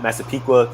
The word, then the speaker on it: Massapequa: Massapequa, people butcher that.